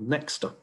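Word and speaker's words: Nexta: media particularly tell up this telegram channel called nexter did play an extremely important role in mobilizing and maintaining protests is the correct pronunciation it means someone in the belarusian language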